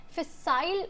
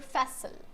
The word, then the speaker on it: facile: Facile or facile. So facile is British pronunciation and facile is American pronunciation. You can use any, both of them are correct.